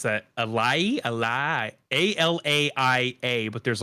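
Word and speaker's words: Alaïa: It's Alaia.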